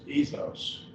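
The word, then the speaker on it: ἔθος: Ethos, in 2 syllables.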